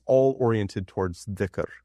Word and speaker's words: dhikr: it's all oriented towards dhikr, or sometimes that's pronounced zikr, and that is the remembrance of God, the remembrance of the real.